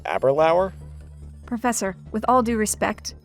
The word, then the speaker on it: Aberlour: Are you sure this distillery isn't pronounced Aberlour?